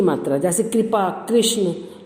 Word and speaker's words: कृपा: उसमें री की मात्रा लगी तो आवाज उच्चारण भी उसका री से होना चाहिए, कृपा।